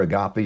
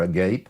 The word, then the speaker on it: agape: God's love, which is, I've heard it pronounced a couple of different ways. It's either agape or agape, whichever you look at it.